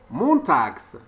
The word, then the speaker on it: montags: Et quand on ajoute S, la prononciation devient montags.